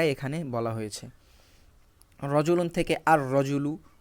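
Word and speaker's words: الرجل: বলা হয়েছে রজলুন থেকে আর রজুলু র এখানে সরাসরি উচ্চারণ হচ্ছে লাম উচ্চারণ হচ্ছে না সাতুন থেকে আসসাতু এদিকে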